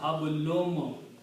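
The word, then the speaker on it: حبل: So the rule is that of tajweed that because of this meme, this noon will be pronounced as a meme again. So hablum, hablum, and so this word is hablun.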